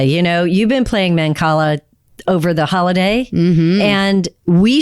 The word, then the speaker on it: Mancala: spell it out so that listeners can go research it? Manacala. Mancala? That's Mancala.